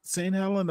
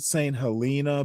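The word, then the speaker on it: Saint Helena: Some people pronounce it St. Helena, but the natives pronounce it St. Helena.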